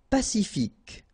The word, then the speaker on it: pacifique: Pacifique. Q-U-E, K, ic.